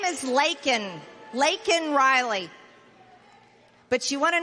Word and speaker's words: Laken: He mispronounced it, didn't even say it right. He said Lincoln. Her name is Laken Riley.